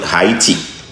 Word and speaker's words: Haiti: a guy from Haiti some people pronounce it heti h a i t i uh he's a